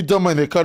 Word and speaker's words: Dominica: it represents first she first she tell them is not the Dominican Republic and you don't pronounce it that way is Dominica but I want you